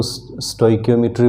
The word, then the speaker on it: stoichiometry: स्टोइकियोमेट्री का अलग अलग कई तरह से प्रोनाउंसिएट लोग इसको कर देते हैं। मैं इसको स्टोइकियोमेट्री बोलता हूँ, रिएक्शन स्टोइकियोमेट्री।